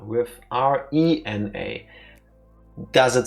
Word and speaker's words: Rena: call her Raina with R E N A. Does it sound like I just said the same thing twice? Yes. That's because we stick with our pronunciation. Technically, it should be Rena, not Raina.